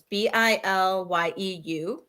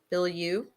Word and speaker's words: Bilyeu: I can't pronounce her last name. It's Bilyeu. Bilyeu.